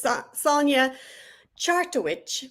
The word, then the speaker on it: Sonja Chartowich: This week I have the fabulous Sonja Chartowich, which I had troubles pronouncing because it is actually pronounced exactly as it looks.